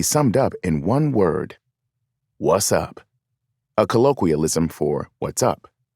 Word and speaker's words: WZUP: radio station with the call letters WZUP, pronounced what's up.